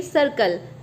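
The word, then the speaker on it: circle: वैसे ही आप देखिए सर्कल, सर्कल में फर्स्ट सी के बाद आई है तो इसे हम स प्रोनाउंस करेंगे, सेकंड सी के बाद एल है तो इसे हम क प्रोनाउंस करेंगे।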